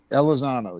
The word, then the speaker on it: Elizondo: Elizondo? Elizondo, yeah.